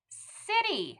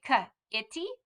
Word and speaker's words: city: with me city yep it has that that soft c but look it has an i not an e well just like we talked about anytime there is an i or an e after a g same with c so eyes and e's always mean it's going to be a soft c so if you didn't know you would say k itty kitty well that's not